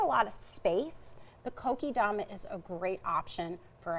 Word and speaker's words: kokedama: Okay, this is called a kokedama.